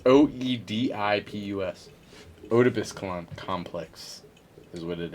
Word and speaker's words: Oedipus: Opedius complex.